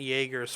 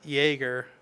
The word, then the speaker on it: Jaeger: It's the German pronunciation, or Jaeger means hunter in German.